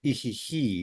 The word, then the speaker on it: ihihi: Because in that instance, it's the ihihi, yeah, the stress on the second he, yeah.